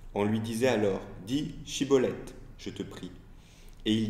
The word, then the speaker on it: shibboleth: tribu il leur demande de prononcer le mot shibboleth or les membres de cette tribu défraye n'arrive pas à le prononcer correctement du point de vue légal had et donc ils disent ciboulette et à cause de